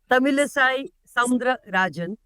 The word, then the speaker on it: Tamilisai Soundararajan: Tamilisai Soundararajan, and thank you for being here with us. I hope I pronounced your name correctly.